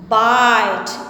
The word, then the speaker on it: bite: bit के साथ जब e का एडिशन हुआ, when we add e with it, it becomes bite.